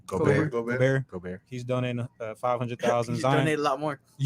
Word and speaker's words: Gobert: Gobert.